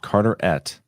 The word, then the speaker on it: Carteret: That's my county. Pronounced Carterette.